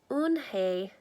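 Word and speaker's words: Unhei: Kim then turned to Joey she nodded slowly yes it's pronounced own Hey and it means grace mr.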